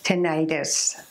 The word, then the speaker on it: tinnitus: Now, there are two ways that I've heard tinnitus being pronounced. The first way, and the way that I like to pronounce it, as you already heard so far, is tinnitus. And the second way I've